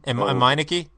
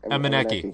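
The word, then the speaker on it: Emenike: How do you pronounce that guy? Meineke? Emeneki.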